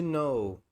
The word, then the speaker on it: know: Se eu falar, por exemplo, essa palavra, esse verbo aqui, to know, to know. Vou botar aqui, ó, pra você ver. To know. Verbo saber, conhecer. Você vê que o K é mudo, né?